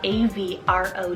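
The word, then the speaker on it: Avrow: that i invented myself here is avro spelt a v r o w avro and this one means father of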